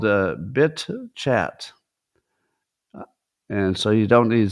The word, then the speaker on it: BitChat: The name of it is BitChat. BITCHAT. It's also could be pronounced bitch at.